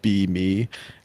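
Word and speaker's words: BeMe: videos so it's like beam is spelled b-e-m-e like B me like this is literally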